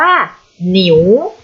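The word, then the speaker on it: 牛: นะ คะ ทั้ง นี้ อ่าน ออก เสียง ว่า หนิว หนิว เป็น คำ ที่ เรา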